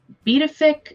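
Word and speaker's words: Pituffik: Then the US which has the uh uh betafic bafic space which it's spelled really differently but apparently that's how you say it.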